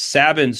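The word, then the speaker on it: Sabine's: of my favorite is sabbin or sabines or sabines we can never agree on how to pronounce this one but it's sabins for me uh they have this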